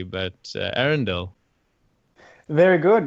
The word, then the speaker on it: Arendelle: I don't even know if I'm going to pronounce it correctly, but Arendelle. Very good, Arendelle, indeed.